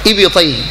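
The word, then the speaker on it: إبطيه: حتى رايت بياض ابطيه ابط هكذا تنطق ابطيه خلاص يعني رفع ايدينه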